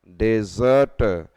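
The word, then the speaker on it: desert: तूने और डेसर्ट और डेजर्ट बोलना यहां पे एस को एस बोलना है डेसर्ट और डेसर्ट जहां पे बालू बालू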